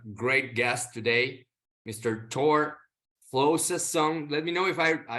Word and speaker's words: Flosason: Thor Flosason. Let me know if I pronounce it right. You got it, Flosason.